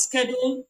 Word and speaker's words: schedule: sound okay in schedule that word schedule is pronounced that way in American English but in British English is pronounced as shadow shadow and then we have